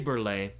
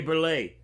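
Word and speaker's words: Burleigh: song this is Deep River uh by Harry burlay first African-American composer of course by that I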